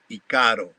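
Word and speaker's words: ícaro: When I hear somebody, even a shaman, say Icaro, I know that it has been influenced by the Western because it is pronounced Icaro.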